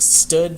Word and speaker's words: std: So that's sort of an abbreviation for the std part is like stood, sometimes pronounced, or short for standard.